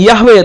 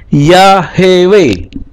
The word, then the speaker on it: Yahweh: cara pengucapan yahwe tadi Nah kalau supaya dibaca yahwe huruf h-nya ini tidak diikuti vokal maka harus dikasih Sefa tapi ketika dikasih sea maka bacanya bukan yahwe tapi ya hewe Nah berdasarkan ini maka